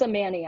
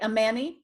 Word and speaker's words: Amani: It's a Manny, actually. Oh, I'm sorry. Amani. Thank you. Yeah. I'm saying it right now. Yes, Amani. thanks. It rhymes with nanny, which is also my day job.